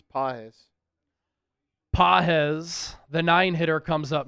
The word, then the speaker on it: Pages: Pahz the nine hitter comes up now or as Ally calls him pages. Spelled pages. It is spelled pronounced Pahz.